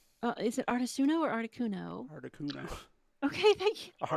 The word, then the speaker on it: Articuno: natural pronunciation so like as a kid i said articuno but now today i say artisuno yeah like so it